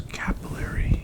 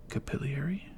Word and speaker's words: capillary: like crap, but because it's capillary action or capilliary, if you're from the UK or the EU, capilli or Canada, I guess, one of the guys I watch calls it capiliary action.